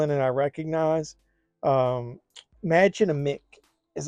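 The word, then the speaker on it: Mädchen Amick: got some people in and I recognize um magin aick is how you pronounce her name from I love her man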